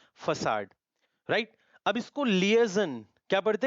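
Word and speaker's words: liaison: अब इसको लिएजन, क्या पढ़ते हैं? लिएजन, करेक्ट। इसको मेजोनॉट, सॉरी मेजोनेट। अब ये बीरे, प्रोनाउंसिएशन रिपीट करते हैं, फसाड, लिएजन, मेजोनेट, बीरे।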